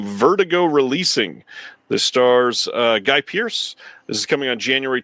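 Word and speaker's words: Guy Pearce: preacher played by gay guy Pierce not gay Pierce uh Guy Pierce arrives at a British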